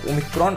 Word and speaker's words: Omicron: इसके बाद आती है 15वीं लेटर जिसका प्रोनाउंसिएशन होता है ओमिक्रॉन और इसके हिसाब से इस वेरिएंट का नामकरण किया गया।